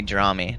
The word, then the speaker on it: DramiS: like I don't even as long as you're not calling me draw me the S is silent no need to get